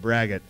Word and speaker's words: braggot: no it it's uh it's pronounced just like it's spelled brag it it's not a very